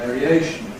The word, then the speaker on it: variation: When we have this suffix ‘-ation’ that attracts stress to itself, we get secondary stress on the /eə/, so it remains with the quality of /eə/, /ˌveəriˈeɪʃn/.